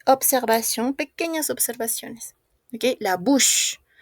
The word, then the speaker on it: bouche: Ok, la bouche. On ne prononce pas la E. Bouche, bouche, bouche.